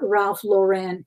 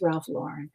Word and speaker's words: Ralph Lauren: But it's not Ralph Lauren, it's Ralph Lauren as well.